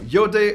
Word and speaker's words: iodé: protonmail a try so your day OS written with an accent on the last e because it's French we French love 2D